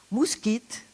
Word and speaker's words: moustique: quel mot est bien le mot moustiques moustiques on devrait dire mousse quitte pourquoi parce que c'est un emprunt à l'espagnol mosquito et pam au stick